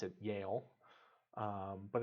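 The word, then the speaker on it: Yehle: a Swiss name um and for us we pronounce it Yale um but it's not the y-a-l-e it's y-e-h-l-e but it used to be spelled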